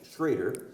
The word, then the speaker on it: Schroeder: Schroeder, spelled like Schroeder, but pronounced Schrader. German.